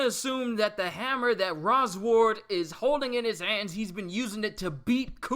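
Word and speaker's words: Rosward: Rose ward ra's award I said it wrong Roz ward father what have they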